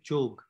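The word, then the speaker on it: যোগ: It means the right definition of yoga, the right pronunciation is jog in Bangla.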